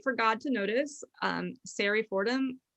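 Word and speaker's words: Sari: god to notice um sarri fordham siri s-a-r-i um say it like mary it's a memoir set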